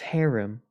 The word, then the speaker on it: harem: The only haram I know is from the animes, man. And it's pronounced harem. Or yeah, harem.